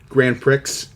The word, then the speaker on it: Grand Prix: On the Waterfront, Exodus, Grand Prix, P-R-I-X, Prix. Yeah, that's right. I'm gonna Prix, sorry. And the Grand Prix. Sometimes we pronounce the X, sometimes we see letters and we think different things.